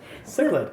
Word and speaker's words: cichlid: of CH C I don't know how to pronounce it cichlid yeah cichlid thank you the kind of cichlids